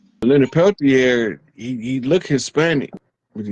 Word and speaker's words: Peltier: was the release of Leonard Peltier. I think is how you pronounce his last name, from the AIM, and I want to say it was at Wounded Knee, right?